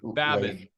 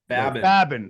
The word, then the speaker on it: Babin: And why don't you tell me how we pronounce Leif? Babin, because I'm sure you're going to tell me it's different. Leif, Babin. Babin. Leif, okay, Babin.